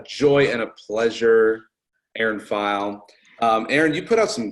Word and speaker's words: Pheil: You can stalk her on the internet, Erin Pheil, Pheil. That is the correct pronunciation.